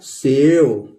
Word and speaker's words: save: इस ई का कोई मतलब नहीं है, एस से स लिख लेंगे, ए की मात्रा लगा लेंगे। ये कह रहा है ई आने पर उसको ए हम प्रोनाउंस करेंगे तो ये हो गया सेव।